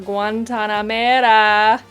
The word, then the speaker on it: Guantanamera: We're gonna grab a Guantanamera. Don't make fun of me. Okay, I'm trying to say it correctly. That's how you say it.